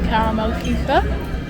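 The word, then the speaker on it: Karamell-Küche: And now we're going to go in the Caramel Kuchen, which is how you pronounce it. Sarah took a German A-level, so she knows her stuff. And gets it's how you pronounce it in Hochdeutsch.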